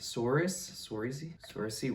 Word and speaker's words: Saoirse: Saoirse Ronan. How you say it is not how it looks at all.